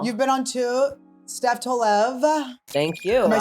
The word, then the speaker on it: Tolev: on two now you've been on two Steph Tov thank you am I saying it correctly you